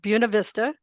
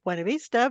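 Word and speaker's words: Buena Vista: of a local uh town that the locals pronounce buav Vista it's really embarrassing to say that to anyone who speaks Spanish or learn Spanish uh it should of course be wav Vista but that's not how they say it yeah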